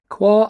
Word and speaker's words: Quarr: aby's got to offer qua Abbey is a monastery between the Villages of binstead and fishborn on the aisle of white in Southern England the name is pronounced qu rhyming with four and it belongs to